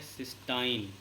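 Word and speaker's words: cystine: ऐसे लिख देते हैं, तो ये सिस्टीन नहीं है, ये है सिस्टाइन।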